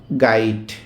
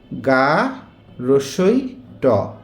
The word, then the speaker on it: গাইট: Number one হচ্ছে গাইড। এটা কিন্তু ড না। এই যে ডটা না। এটা হচ্ছে কি? ট। তাহলে এ উচ্চারণ কি হলো? গা রসই ট। গাইড।